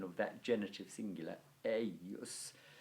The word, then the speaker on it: eius: of that genitive singular, eius. It's spelled E-I-U-S, but it's pronounced as if there was a kind of double consonant I, eius.